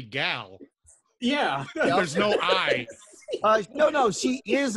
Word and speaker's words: Gal: gadot well she also does he pronounce her first name Gail cuz it's actually gal yeah no no she